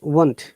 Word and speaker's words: want: wanted to want okay the sound is one one okay one can you hear it yes i hear this